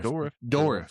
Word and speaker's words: Dourif: Dourif or whatever? Brad Dourif. Dourif.